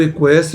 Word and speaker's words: equestre: No equestre, o U é pronunciado, o U e o E vão formar um ditongo.